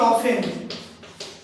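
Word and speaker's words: often: Silent মানে চুপ। যে বর্ণটা চুপ হয়ে আছে উচ্চারিত হচ্ছে না আমি যদি লিখি অফেন লিখছি এটা কিন্তু অফটেন লিখছি অফটেন কিন্তু বলছি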